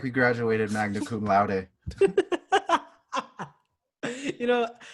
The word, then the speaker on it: magna cum laude: We're gonna look like we graduated magna cum laude. You know, I always pronounce it as magnum cum laude because I didn't know the right way to pronounce it.